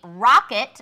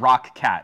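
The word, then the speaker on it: Roccat: deals page, check out the deals on the Rocket, I was told to pronounce it that way. With the 3 different pronunciations between the Newegg ninjas, I'd always heard Rock Cat. I'd always heard Rocat.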